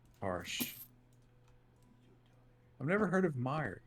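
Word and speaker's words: Meijer: new dune movie harsh i've never heard of meyer it's actually not spelled like that neo video it's m-e-i-j-e-r it's just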